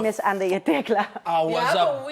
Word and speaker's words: Andayé: I was about And your name to is Andayé Tecla. I was have a about weird to name. fucking Well, say. No. Here's It rhymes with Annabay.